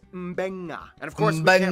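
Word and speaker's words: Beqa: makes the nd sound, B makes the mb sound. Both Q and G make the ng sound. Therefore, the town of Nadi is actually pronounced Nandi. And this word is pronounced Mbenga.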